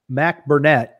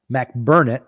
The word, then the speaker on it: McBurnett: One of the range master for the Virginia State match, Jim McBurnett. Nope. McBurnett. There we go. I always say his name wrong.